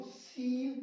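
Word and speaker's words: scene: देखो सीन पढ़ेंगे इसको, सीन का मतलब दृश्य।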